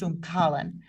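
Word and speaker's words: umckalin: found that it contains a compound called umcalin. It's also sometimes pronounced umcalin.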